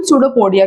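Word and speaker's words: pseudopodia: और इसी U shape को हम सूडोपोडिया कहते हैं। ठीक है? इट इज़ अ सूडोपोडिया। P silent होता है।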